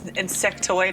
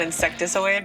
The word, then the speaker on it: insectoid: It's insectoid, not insecticoid, but I always say it wrong.